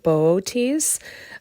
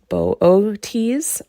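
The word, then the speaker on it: Boötes: And if we were here's another picture of Booties. Um I feel funny saying that word every time. Just not used to that pronunciation.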